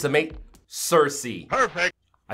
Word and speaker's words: Circe: it it ceases to amaze me it's amaz Cersei perfect I said it right yes and on